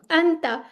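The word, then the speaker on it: أنت: ठीक है, अंता। जैसे हम कहते हैं ना पंखा, वैसे ही लाइट सा ये प्रोनाउंस होता है, अंता।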